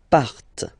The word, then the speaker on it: partent: Okay, and the last persons, il, elle, partent. Remember, classic ending, ENT, but then you don't pronounce them, partent.